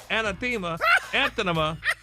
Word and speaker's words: anathema: Intimate relations of any degree with a woman is anathema to Gary with the T.